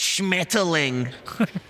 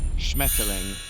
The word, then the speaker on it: Schmetterling: Okay, in German it's Schmetterling. SCHM, 4 consonants back to back. ETTERLING. Schmetterling. Schmetterling.